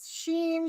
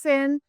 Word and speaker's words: Senn: like like we get sheen, I just say just think about sinning at church. So, just take the i n g off and so it's pronounced Sinn.